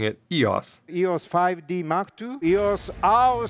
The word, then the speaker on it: EOS: do you pronounce it Yas and the modern Greek way of pronouncing it would be with a bit of a step up on the second syllable so Yas Yas and I say modern